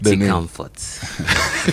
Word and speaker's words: comfort: We need a remix of the song with the right somebody comfort. Okay. It's just like you say effort. Effort. So comfort.